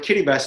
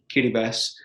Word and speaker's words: Kiribati: that's still what is used today the word kitty best is actually the no local pronunciation of gilbert gilbert kitty bus because it was controlled by britain for many